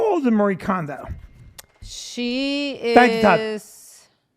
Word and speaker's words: Marie Kondo: Marie Kondo, just like you just said it.